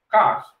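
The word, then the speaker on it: quarter: Se le denomina cars. Sí, cars. ¿Sí? Esa es la pronunciación correcta, cars, ¿no?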